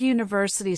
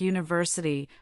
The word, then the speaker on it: university: For example, the word university starts with the letter U, but it sounds like university, which is a consonant sound.